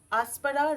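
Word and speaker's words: Aspera: এরপর মনের ইচ্ছাটা বলার পর লিখে নিন রিয়া অ্যাসপেরা রেহমা নীতিকা। রিয়া, আর ই ওয়াই এ, রেয়া, অ্যাসপেরা, এ এস পি ই আর এ, অ্যাসপেরা, রাহমা, RAHMA রাহমা, Nitika NITIKA Nitika, তাহলে উচ্চারণটা কি হলো? রেয়া আসপারা রাহমা নীতিকা।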